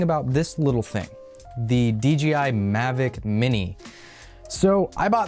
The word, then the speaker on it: DJI: a stupid little thing DG a DJI its DJI but it's just it's so weird to pronounce because of a stupid little thing they